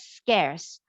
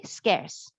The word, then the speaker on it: scarce: word is pronounced as scarce um when words has ending with c e C followed by E usually it has the s sound okay so this word is pronounced as scarce okay scarce prospers means to be